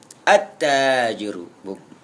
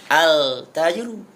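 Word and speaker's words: التاجر: tajwid disebut dengan Idgham attajru tidak boleh dibaca alajru karena ini huruf Syamsi Syamsiah yang kedua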